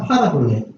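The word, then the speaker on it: παραβολή: 파라볼레.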